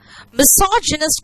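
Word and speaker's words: misogynist: हालांकि यहाँ पे गायनी नहीं, यहाँ पे जीनी वर्ड आ रहा है प्रोनाउंसिएशन में। मिसोजिनिस्ट का मतलब है वन हु हेट्स विमेन, है ना।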